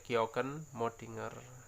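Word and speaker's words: kjökkenmöddinger: dan Abris Sous Roche ini tulisannya ke Joken kita bacanya georgen modinger Ya akan kita bahas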